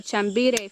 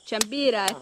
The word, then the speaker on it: chambira: This is a chambire fruit, and it's found on a chambire tree. Chambira tree. The Apu is telling me the correct pronunciation.